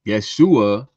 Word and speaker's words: Yeshua: Yeshua is what they called Jesus when he was on earth. That's how they pronounced his name.